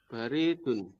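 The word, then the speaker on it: باردٌ: Mas Johar allabanu baridun baridun bnya panjang.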